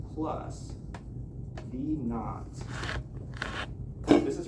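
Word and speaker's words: v naught: velocity in the metric system is measured as 9.8 t plus v kn this is pronounced v kn.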